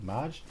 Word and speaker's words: Maj: I keep wanting to say Marge. That's how we'd pronounce it here in Australia. M-A-J, Marge.